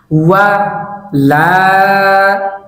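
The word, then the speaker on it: وَلَا: ওয়া লা, ওয়া লা, ওয়া লা। এই শব্দের উচ্চারণ হচ্ছে ওয়ালা, ওয়ালা।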